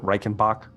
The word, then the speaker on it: Reichenbach: has tasked magister reyna reichenbach am i pronouncing that right is it reikenbach yep right with collecting this